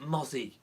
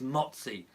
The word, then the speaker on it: Motsi: the Pelle motsi now I did hear the BBC presenter calling him Mopsy so mo Zed Zed I I've been calling it mozzie and but I think the actual pronunciation is motsi so Eduardo m'appelle e motsi I think is the the proper the proper pronunciation so I will I